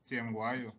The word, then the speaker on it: Yingwayo: Is it Yingwayo? Yes, Yingwayo. Ben, thank you.